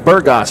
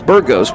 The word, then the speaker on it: Burgos: sixth of the season they're saying burgos i thought it was bird ghost but the bird gods found or burgos might be saying hey yeah knucklehead you've been saying it wrong the whole weekend well i didn't know